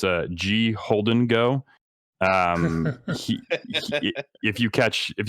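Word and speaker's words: Gholdengo: that I I recently learned how to actually pronounce it it's a g Holden go um if you catch if you catch the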